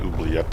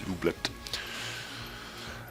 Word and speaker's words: oubliette: Or actually it should be called oubliette, not oubliette. I've been mispronouncing that for quite a while. It's oubliette.